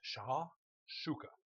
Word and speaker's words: shakshuka: It's uh that's the way it pronounced it. Sha shooka.